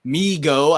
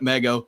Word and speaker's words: Migo: ultraman figure from migo migo i found the pronunciation i was calling it mego so i was corrected nicely uh so i still